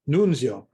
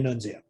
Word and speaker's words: Nunzio: languages in it so my name should be pronounced nunzio but i myself say nunzia okay um i i